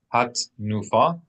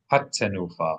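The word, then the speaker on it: הַתְּנוּפָה: If we made this schwa silent, as many people might do, then we've deleted an entire syllable from the word. So not hat nufa, but rather it's hattenufa, hattenufa.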